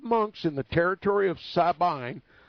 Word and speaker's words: Sabine: in the territory of Sabine, Sabine, if you want to pronounce it that way.